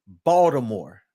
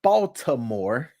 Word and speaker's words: Baltimore: native baltimoreans all right there's no D in Baltimore right but you would think it would be based off of the way that they said but Baltimore Baltimore Maryland is about